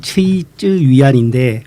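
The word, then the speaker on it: 崔之元: 예, 청와대학교 칭화대학교 교수로 계신 분인데 이름이 최쯔위안인데 우리나라 말로 그대로 읽으면 최지원입니다. 아주 쉬운 이름인데 중국식으로 발음하려니까 되게 어려웠는데 예, 중국은 지금 국유 기업이 전체 산업 생산에서 50% 정도를 차지합니다.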